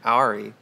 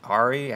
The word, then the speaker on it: Arri: How do you say it? Is it Ari? Ari. Ari. Ari. Ari. You roll the R a bit too strongly.